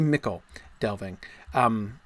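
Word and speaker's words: Michel Delving: Yeah, it's definitely mickle delving. Mickle is an old English word.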